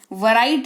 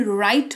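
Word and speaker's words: write: वो शब्द शुरू ही डब्ल्यू से हो रहा है और उसके ठीक बाद आर आ रहा है तो डब्ल्यू का उच्चारण नहीं किया जाएगा।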